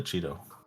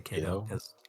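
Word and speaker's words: Chaeto: it I call the Cheeto wow that's a dumb way to say it I say Kido that's Latin that's how Latin works but it's okay you'll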